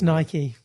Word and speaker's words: Nike: ones with the Swoosh I say Nike you say it wrong it's Nike it's Nike named after the Greek god of messenger victory yeah I believe